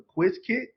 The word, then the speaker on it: Qiskit: I'm gonna pronounce it properly. The Quiz Kit.